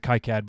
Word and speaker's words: KiCad: KiCad or KeyCAD? I pronounce it KiCad, but I don't claim to be authoritative on that knowledge.